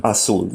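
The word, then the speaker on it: Azul: Um, Aulu. You pronounced a Z like an S. A. Am I getting that right? A. Yeah, you pronounced a Z like an S. It's basically uh blue in Spanish.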